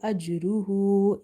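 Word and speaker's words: أَجْرُهُ: So here I have stretched up to 2.5 alif, and in the word ajruhu, jim is again from qalqala letters, but we have weak qalqala because of jim being placed in between somewhere in the word.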